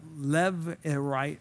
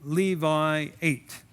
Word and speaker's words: Levirate: called the law of Levirate marriage, like Levi 8 is what, or Levi rate is what it's spelled like. If a man died without having an heir, remember, the land was incredibly important to them.